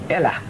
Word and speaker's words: Elah: Elah in Hebrew means God. Spell it in E-L-A-H, say E-L-A-H.